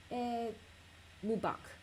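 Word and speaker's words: Eid Mubarak: Ah, sorry, it's Ed Mubak. Okay. Yeah, I'm so sorry. I always mispronounce stuff, so I try not to pronounce exotic things because I will end up mispronouncing it.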